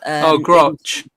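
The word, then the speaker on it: Grusch: footage, but I'm not sure how to actually pronounce this guy's name. Whistleblowers such as David Gruch continue advising Congress. Gruch.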